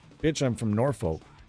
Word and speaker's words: Norfolk: like, "Bitch, I'm from Norfolk." Norfolk, sorry, no, not Norfolk. It's it'd be Norfolk. Norfolk. I don't know. There's like a silent L in there somewhere.